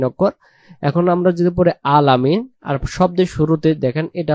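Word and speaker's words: العالمين: অক্ষরের উচ্চারণে রূপান্তরিত হবে আইন অক্ষরের উচ্চারণের স্থান হলো গলা চেপে একটু পড়তে হবে আলামিন প্রথম আয়াতটা আমরা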